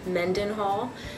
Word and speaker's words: Mendenhall: My last name is pronounced Mendenhall.